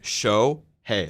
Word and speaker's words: Shohei: I thought I said show hey um show s like it's pronounced like show hey like yeah um but